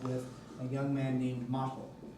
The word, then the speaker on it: Motel: She's fallen in love with a young man named Motel. It's spelled just like motel, but anyway.